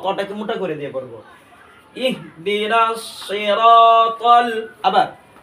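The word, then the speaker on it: صراط: না তার জায়গায় তকে মোটা করে দিয়ে পড়বো সিরাতাল আবার সিরাতাল আবার সিরাতাল মুস্তাকিম মুস্তাকিম আবার ইনশাল্লাহ একসাথে ইনশাল্লাহ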